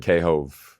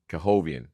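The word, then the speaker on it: K. Hovnanian: K-Hove, maybe.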